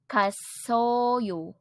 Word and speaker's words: 갔어요: of the verb went which in Korean is pronounced as kasoyo alright so let's put it all together the